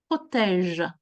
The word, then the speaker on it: protège: Un maillot, un short, des chaussettes, des protèges tibia. Amis, the sound that is important here in protège is the je sound. Protège. The is not pronounced. That's the sound je. Protège.